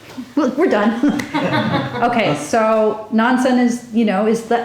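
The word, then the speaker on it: Nansen: to read for us nonsense cat nonsense is the um the Japanese pronunciation of nonchon and I don't speak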